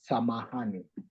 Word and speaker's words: samahani: Swahili, it has a word close to that, which is called samahani.